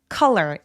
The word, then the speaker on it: color: 컬러는 컬러가 아니고요. 얘는 단모음으로 빠르고 뾰족하게 빠른 느낌으로 발음하시면 돼요. col color 이렇게요. 그래서 col 이렇게 길게 표현하지 않습니다.